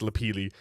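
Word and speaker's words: lapilli: Because no, it's pronounced Lapili.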